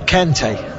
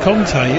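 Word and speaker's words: Kanté: I'm not quite sure, but I've been saying Kante anyway. It's pronounced Conte, isn't it? Conte.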